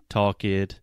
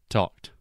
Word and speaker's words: talked: So just like you were saying, like walk id, talk id, when in reality it should just be walked, talked, right?